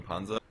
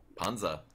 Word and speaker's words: Panzer: Panja. Panja? Pretend that you have a German accent. I want to make it Swedish. Panja.